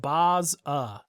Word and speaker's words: Baza: Lost points for pronouncing Baza wrong. Think Baz Lerman. Baza.